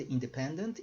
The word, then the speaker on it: independent: E aqui a pronúncia, independent. Tá? Só estou mencionando isso porque, para nós, independência, a tônica está aqui, o stress está aqui. Então, quando os alunos normalmente vão pronunciar esse tipo de palavra, eles colocam a tônica no lugar errado. Tá? Então, só se acostuma com isso.